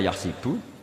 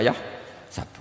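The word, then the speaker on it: يحسب: Karena dalam qiraat sab'ah ada yang baca yahsibu, qiraat kita baca yahsabu. Tapi guru-guru kita kalau ngajar fikih itu bacanya yahsibu. Tapi kalau baca Quran, yahsabu. Ya kan Quran kita kan ayah sabu Allah yaqdiru alaihi ahad, bukan dibaca ayah sibu.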